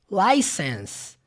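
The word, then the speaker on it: license: ó acabei de falar licens não termina com som do e na escrita olha aqui na legenda aqui embaixo lá esssess beleza tem um e ali mas esse e não é pronunciado então não é licença não Ele termina no som do S por isso que na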